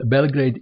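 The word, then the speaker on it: Београд: that was played in Belgrade in 1964 where is Belgrade Belgrade is the capital city of Serbia serbians pronounce it belgrad translated to English language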